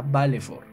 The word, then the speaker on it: Valefor: Pronunciación, Keiman Befatasa Valefor.